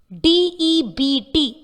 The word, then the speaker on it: debt: but not not Tom sometimes the letter B is silent when it occurs in the middle of a word to example D EBT is sounded as debt